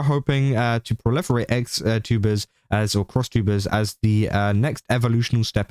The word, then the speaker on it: XTuber: Pronounced crosstuber, so it's not actually XTuber, crosstuber.